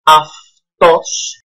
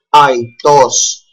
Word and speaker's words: αυτός: We read this as αυτός and not αητός, αητή, αητό, or αητή, αητές, αητά, correspondingly.